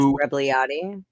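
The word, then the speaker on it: Rebagliati: I can't pronounce his name. Ross Rebliati.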